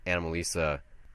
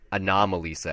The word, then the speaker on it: Anomalisa: Like David Lewis in Anomalisa, or Anomalisa, actually. That's how you pronounce Anomalisa, yeah.